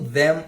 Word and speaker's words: them: Quando tem um M no final de alguma palavra em inglês, ele tem uma pronúncia fechada, então você vai fechar a boca.